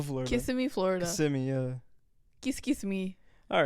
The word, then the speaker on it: Kissimmee: You used to, Kissimmee, not Kiss. What did you say? You say it like a fob, okay? I say it like I'm from Orlando, Florida. Kissimmee, Florida. Kissimmee, yeah. Kiss me.